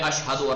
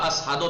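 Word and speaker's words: أشهد: مثلا کلمہ اشہدو را اسہدو تلفظ میں کر، مثلا وہ اشہدو کو اسہدو تلفظ کرتے تھے، یا حیارہ حیا می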